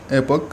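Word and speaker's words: epoch: देखिए मैंने दोनों प्रोनाउंसिएशन के साथ जो बोला है, दोनों में से आप कैसे बोल सकते हैं, ये आपकी इंग्लिश को जो अट्रैक्टिव ही बनाता है।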